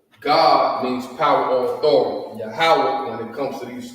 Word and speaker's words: Yahweh: That's how you would pronounce it is Yahweh.